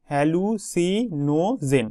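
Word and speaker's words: hallucinogen: হ্যালুসি ননোজেন ঠিক আছে হ্যালুসি নোজেন এভাবে উচ্চারণটা করবে হ্যালুসি নোজেন হ্যালুসি নোজেন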